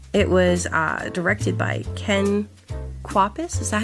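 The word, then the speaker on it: Ken Kwapis: It was uh directed by Ken Quapus.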